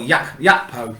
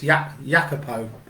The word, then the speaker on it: Gakpo: So Cody Matthias Gakpo is a Dutch pronunciation, or Jakpo. His name's not Gakpo, it's Jakpo. Born 7th of May 1999,